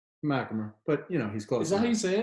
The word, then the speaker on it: MacHamer: I'm here with my man, MacHamer. MacHamer, but he's close. Is that how you say it? Yeah. The H is silent. It's capitalized, but it's silent.